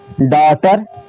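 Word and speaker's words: daughter: एच आ गया है। इसको करेंगे अब हम साइलेंट। टी को पढ़ेंगे। यह हो गया ट और आर इ को होता है र। यह हो गया आपका डॉटर।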